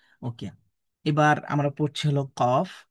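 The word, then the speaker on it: ق: এই কফ অক্ষরটা জিহবার গোড়া থেকে মোটা করে পড়তে হবে। এবং সবচেয়ে গুরুত্বপূর্ণ কথা হলো ফাতার উচ্চারণে আকার পড়া যাবে না। আমরা কফ ফাতহা কা বলতে পারবো না। ক বলতে হবে।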